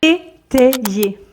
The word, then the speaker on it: étayer: prendre des décisions stratégiques étayer étayer ici le y a un double rôle puisque son premier rôle c'est de faire le son I et donc a et i ensemble ça fait e c'est pour ça que